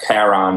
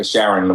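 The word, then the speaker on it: Charon: discovered Sharon was named Sharon okay some people pronounce it Kat Karen but but I I Sharon works for me and also the it's not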